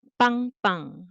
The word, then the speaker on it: 빵빵: So bang bang.